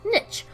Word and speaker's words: niche: But anyways, this game is called Niche, or Niche, or Niche, depending on where you're from. Where I'm from, we pronounce it Niche.